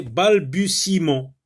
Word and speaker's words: balbutiement: Alors, on forme le nom qui vient de balbutier, c'est balbutiement. Alors, vous remarquez que le E ici ne se prononce pas. Et ce E se trouve à l'intérieur du mot.